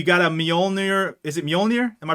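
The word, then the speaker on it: Mjölnir: Is it Mjolnir? Am I pronouncing that right?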